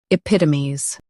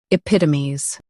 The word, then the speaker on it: epitomes: Today, we will learn how to pronounce the word shown on the screen. epitomes Both US and UK have the same pronunciation of this word. epitomes Now read the syllables shown on the screen naturally.